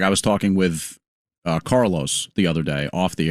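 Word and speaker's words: Karlos: Carlos spells his name with a K. And when you said Carlos, I just thought C. And that's not. It is pronounced Carlos.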